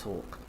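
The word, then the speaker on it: Hawke: ha and yes I do know that it's Hawk um that's a name and I've been during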